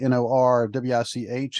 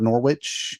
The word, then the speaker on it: Norwich: you see it spelled n-o-r-w-i-c-h it is not Norwich it is Norwich I know this because I got corrected when I lived you know that was told it's pronounced like it's porridge I was like oh